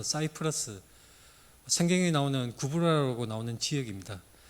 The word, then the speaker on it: 사이프러스: 구부로 어,이 키프로라는 곳인데 영어 발음으로는 사이프러스 생경에 나오는 구부로라고 나오는 지역입니다.